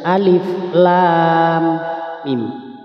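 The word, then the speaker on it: الم: ya bertemu tasydid ini kemudian mimnya sebelum masuk ke mim harus didengungkan terlebih dahulu seperti ini alif lam alif lam panjang lamnya lam kemudian ke huruf Mim harus mendenggung lam nah ini mendengungnya dua harakat Alif Lam Mim mimnya enam harakat Saya ulang lagi perhatikan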